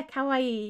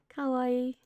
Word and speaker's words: kawaii: maybe this is why kawaii kawaii no it's still the same it's three syllables okay cookie the whole